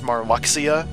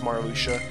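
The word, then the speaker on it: Marluxia: when I play this game it was good pronounced amar Alexia and I think that but it sounds cooler but now it's Mara Lucia Mar Lucia who's that and what do they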